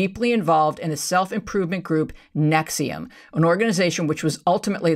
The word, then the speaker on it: NXIVM: know this particular group nexium first of all they are horrible spellers because nexium is spelled nx nxivm they brand themselves as